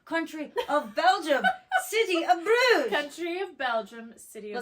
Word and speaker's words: Bruges: Bruges. Or you can also pronounce it Bruges.